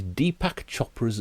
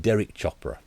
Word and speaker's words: Deepak Chopra: And this is, I'm going to try and, I always get this guy's name wrong as well. This is Deepak Chopra's Leela. I always call him Derek Chopra.